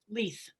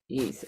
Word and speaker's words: Leith: Leith. Leith. Okay, it is the Keith with an L. Leith.